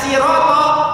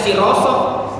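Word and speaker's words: صراط: Bayangkan, orang mau baca siroto banyak yang salah. Ada yang baca siroso, ada yang baca dirodo, ada yang baca dirodo.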